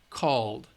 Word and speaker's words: called: alright call called alright L is a voice sound so we use the D for the Edie called cleaned loved all right